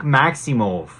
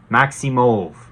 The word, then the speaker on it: Maximov: Karl Roberson, Nick Maximov. Almost like mauve, like the color. That's how he pronounced it on Contender Series. That's how the commentators say it. I watched a lot of it. Roberson, Maximov.